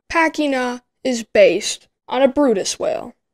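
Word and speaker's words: Bryde's: is based on a brutus whale it looks like it's spelled brides whale but it's actually pronounced brutus it is also of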